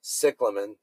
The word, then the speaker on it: cyclamen: rots if you have a cyclamen or their true pronunciation is cyclamen and it's done flowering